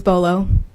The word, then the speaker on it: Berlow: Berlow is French. good evening. Can you pronounce your last name? And I believe it's French, isn't it? It is, yes. It's Bolo. Bolo.